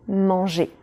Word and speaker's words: mangé: participe passé en réalité on entend le même son manger manger mais avec une écriture différente petite parenthèse c'est une